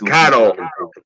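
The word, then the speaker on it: Karol: Kind of weird when they have those women's names, like Carol, but it's spelled with a K. Yeah. It's like kind of like Carl, but it's Polish. It's weird. It's Carol. Carol. That's how it's pronounced.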